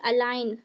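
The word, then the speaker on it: align: कि अलाइन अलाइन अलाइन अलाइन पढ़ेंगे। क्यों? क्योंकि जी यहां पर साइलेंट होगा।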